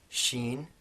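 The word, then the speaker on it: ش: Sheen, which is the English equivalent is sh, in words like shatter, for example.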